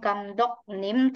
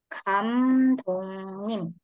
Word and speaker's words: 감독님: Kalau ditambahin nim, bacanya bukan gamdok nim tapi kamdongnim.